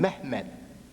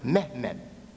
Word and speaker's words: Mehmed: They call him Mehmed. That's how they pronounce it. Mehmed.